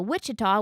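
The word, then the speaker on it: Ouachita: W, and then the Wichita, which is spelled Ouchita. They're both pronounced the same, but the Wichita mountain range, one starts with an O, is where we were this last weekend.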